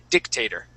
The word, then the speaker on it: dictator: let's practice this word we're going to say dictator with the accent at the very beginning dictator dictator okay good all